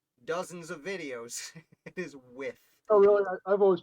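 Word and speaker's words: Wythe: of trouble about george with it's not george white as i have put said in dozens of videos it is with oh really i've always pronounced it wife too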